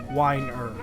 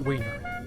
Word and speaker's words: Weiner: please do not laugh it's pronounced like a glass of wine er whiner not wiener not harry weiner please